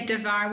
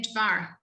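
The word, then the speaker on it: דבר: next sound de var but we don't say davar we say dvar devar torah and you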